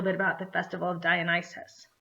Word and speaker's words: Dionysus: about the festival of Dionysus Dionysus is spelled d io n like Dion like yummy pizza d io n y su s d io n y su s that's Dionysus and he's the god of